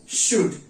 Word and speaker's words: should: तो आप इस्तेमाल करेंगे शुड, SHOULD, शुड। इसको उच्चारित कैसे करेंगे? इसको बोलेंगे कैसे? शुड। कैसे बोलेंगे? शुड। यहां पर हम बड़े श का उच्चारण कर रहे हैं, शुड, शुड।